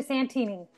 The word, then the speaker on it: Santini: Her name is how you pronounce her last name? Santini? Yes, Santini.